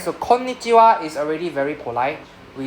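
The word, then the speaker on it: こんにちは: Can see the double N sound? Yes. Please pronounce the double consonant sound. Alright? So please separate the N the first N go with the first guy. So instead of saying ko is kon. Right? So konnichiwa.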